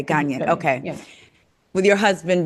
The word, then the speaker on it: Ghanaian: How do you say it? Ghana. I know it's GANIA. Ghanaian. Ghanaian. Okay, Ghanaian.